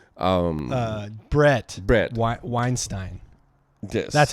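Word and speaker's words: Bret Weinstein: they're not no they're not um uh brett brett weinstein that's how you say it yeah yeah i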